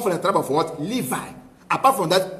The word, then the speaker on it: Levi: Es como anteriormente, antes de Jesús, los sacerdotes solamente tienen que ser la tribu de Levío. Levío, no es Levíticos. Levi. ¿Cómo se dice? Levi.